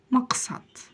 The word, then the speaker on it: Мақсат: вас всё получится ма Максат Максат Максат в конце у нас буква которая практически не читается Итак читаем всё вместе